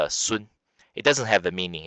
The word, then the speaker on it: Sun: pronounce it English but in Mandarin Chinese is pronounced soon it doesn't have a